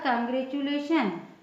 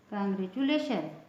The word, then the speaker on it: congratulation: कांग्रेचुलेशन, च हो गया उसका उच्चारण, है ना, कांग्रेचुलेशन।